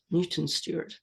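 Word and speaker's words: Newton Stewart: mutant stward uh because in Scotland we pronounce the ew like a y Stuart Newton Stuart and surname Stuart is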